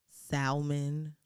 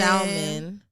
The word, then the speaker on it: salmon: It's like chicken, salmon. Pronounce the L in salmon.